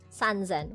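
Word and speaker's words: 三千: Sanszen.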